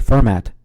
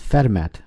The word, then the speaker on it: Fermat: to always pronounce it fermat but it's actually pronounced fetmat because I think it's French or something.